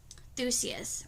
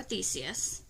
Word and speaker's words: Theseus: crete that helped uh let me say his name right thusius or theseus whichever way you want to say it escape the labyrinth of